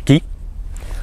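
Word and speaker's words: 木: Donc, comme on le connaît, on met le kanji de l'arbre, ki, donc on sait que ça se prononce ki.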